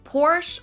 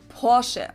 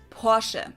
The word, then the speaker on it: Porsche: I've heard Americans pronounce it Porsche or Porsche. In German, we say Porsche. So there's like this short E sound in the end. Porsche.